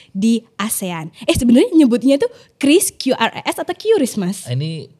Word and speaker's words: QRIS: Jadi kan ada yang bilang QRIS gitu, kan ada yang QRIS. Ada yang bilang KRIS. Nah, ternyata kalau kata Bapak Ibu pejabat itu yang bacanya KRIS. KRIS ya. Meskipun kadang-kadang kita lebih enak QRIS gitu ya.